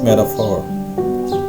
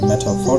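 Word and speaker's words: metaphor: Next is मेटाफोर। अच्छा, इसके pronunciation को ज़रा नोटिस कीजिएगा कि हम जैसे नॉर्मली मेटाफोर कहते हैं, तो लेकिन इसकी जो प्रोनाउंसिएशन है, इट्स नॉट मेटाफोर, इट्स मेटाफोर।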